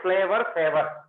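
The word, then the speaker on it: Flavr Savr: Very good example for this is flower saver tomato, which is written like this, but you have to pronunciate flavor saver, which saves flavor for long duration.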